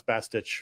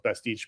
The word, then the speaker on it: Bastich: The one The one real positive was now I know how to pronounce Bastich, which for you I always thought it was Bastique, but that's whatever I